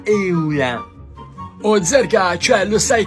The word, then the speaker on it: Eula: Zerga, non si pronuncia Iula, si pronuncia Eula.